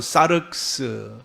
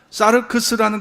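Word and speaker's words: σάρξ: 육이라는 것은요, 헬라 말로 사르크스, 또 혹은 사르크스라고도 발음을 합니다. 사르크스라는 건 뭘까요?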